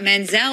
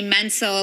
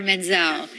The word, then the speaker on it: Menzel: stage name, I thought Menzel would be pronounced easier than the T. Plus, it was people would say Menzel, like mental and pencil.